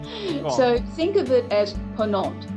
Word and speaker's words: Ponant: So think of it as Ponant. Ponant, okay. Ponant. Compagnie so du Ponant. if we were trying to write it, say, in English, we'd go Ponont, Ponant.